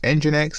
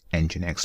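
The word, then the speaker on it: nginx: they have some quick reference so what is engine X and how to use this image so let's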